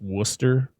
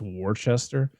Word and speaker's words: Worcester: sure sure there's a there's a city in Massachusetts that's Worcester but if you look yes it's Worchester like where where are the rest of the letters in this word just don't pronounce them nobody cares tatas tatas we also see